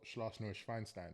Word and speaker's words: Schloss Neuschwanstein: So Schloss Neuschwanstein, that's how you say it in German.